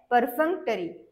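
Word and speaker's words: perfunctory: एफ य एन सीटी आर वाय तर याच प्रोनन्सशन काय आहे परफेक्टरी प आर एफ एन सी आरवा याच मिनिंग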